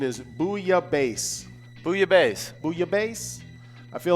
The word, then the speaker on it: bouillabaisse: The proper pronunciation is bouillabaisse.